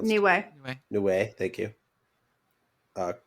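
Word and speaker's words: Niue: kiras noai no I don't know how it's pronounced New Way new way thank you uh Christmas Island Neville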